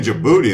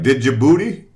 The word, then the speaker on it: Djibouti: people they'd be like did you booty but it's uh the the D is silent okay so anyways thanks